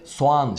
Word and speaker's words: soğan: kimseye etkisiz hale getirebiliyor sadece ğ geliyor ortadan kalkıyor ve soğan şeklinde telaffuz ediyoruz bazıları burada ve yerleşme var soğan diyorlar ya öyle bir şey yok ve Düşme diye bir şey söz konusu değil soğan diyoruz arkadaşlar yine doğal kelimesinde Doğu